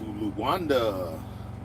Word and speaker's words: Luanda: We going to Luanda.